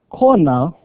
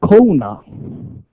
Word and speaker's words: Kona: Now when you go to Kona, it is not Kona, it's Kona. Huh? Kona.